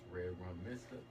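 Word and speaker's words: Red Rum Mista: It's Red Rum Mister. That is spelled M-I-S-T-A.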